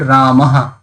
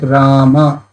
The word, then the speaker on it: Rama: Like Rama, Rama is there. So most of the Hindi speaker will pronounce as Ram. So last a they will not pronounce.